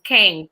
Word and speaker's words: Kane: And you might want to spell that because it's not King, it's Kane.